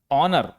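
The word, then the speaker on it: honour: ऑनर एच ओ एन ओ यू आर यहां पर भी एच के बाद क्या है?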